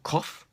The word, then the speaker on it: cough: or tough or rough we have the sound off for cough we have the sound